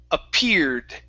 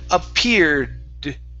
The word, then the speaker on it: appeared: that r okay but we want to pronounce the d at the end as well so it's appeared appeared there you good